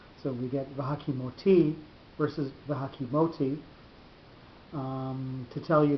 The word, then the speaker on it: v'hakimoti: Normally, if you were pronouncing that in Hebrew, the second last syllable would be the one with the accent on it. It would be v'hakimoti rather than v'hakimoti.